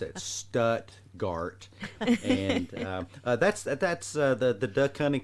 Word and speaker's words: Stuttgart: I had an old graduate school professor pronounce it Stuttgart. No. That's in Germany. We pronounce it Stuttgart, and that's the duck hunting capital of the world.